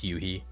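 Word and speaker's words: Yoohee: now, cuz now um Yui, I keep saying Yohi cuz that's how it's spelled and in English that's how you'd pronounce it, but I know it's Yuhi.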